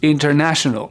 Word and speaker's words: international: accentué si je reprends le mot international vous voyez que la petite apostrophe est juste avant le NA donc je sais que c'est là qu' va falloir que je fasse mon effort international maintenant avec les dictionnaires